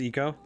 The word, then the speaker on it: Ico: been saying you're right Japanese pronunciation is Eco okay yeah that makes sense to me I it doesn't like it it doesn't really make sense to me to say like oh it's Ico It's like because I and